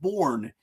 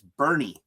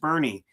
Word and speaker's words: Bourne: It's Bernie. It's pronounced Bernie." As a Yankee fan, that was easy to remember because I just thought about Bernie Williams.